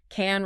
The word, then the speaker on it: can: Can rhymes with pan or man, but can't rhymes with car or bar.